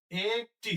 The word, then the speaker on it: একটি: কি বলি একটি বলি আমরা একটি বলি না একটি বললে ভুল হবে তাহলে হবে কি একটি এখানে হস চিহ্ন হবে একটি শ্রাবণ এর আগে